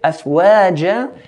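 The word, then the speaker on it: أَفْوَاجًا: And when we do stretch it, afwaja, we have to be careful in not making a hamza sound at the end. Afwaja. To say afwaja, like at the end, afwaja, is to add an hamza, which has to be avoided. It's afwaja, ja, and not ja, yeah?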